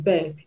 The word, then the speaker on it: begged: The last sound of the root word in begged is g. G. Like I told you, g is a voiced consonant. So you're going to pronounce the ed, the past tense marker, as d.